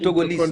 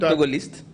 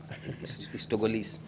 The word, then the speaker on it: Togolese: would be strange two people coming Togolese, not Togolist. I said Togolese. Oh no, you said Togolist initially. Yeah, maybe it's the pronunciation, but it's Togolese.